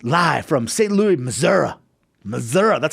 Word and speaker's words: Missouri: Missouri, that's how you say it.